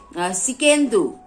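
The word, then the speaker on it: Tsidkenu: और यहोवा सिकेंदू, उसको इंग्लिश में लिखने से टी से स्टार्ट होगा, लेकिन टी जो है साइलेंट है।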